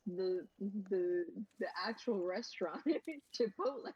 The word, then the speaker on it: Chipotle: And the reason why I pronounce it like that is because the um the hot sauce vendor at the Renaissance fair, they said garlic chapatle when I bought it from them. And I'm like I am stealing that. That is amazing. I'm like, I've never heard it pronounced so incorrectly.